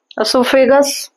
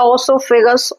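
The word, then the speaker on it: oesophagus: Mouth के बाद हो जाएगा एसोफेगस। इससोफेगस या ओसोफेगस ओ से भी स्टार्ट है। स्पेलिंग दोनों सेम है।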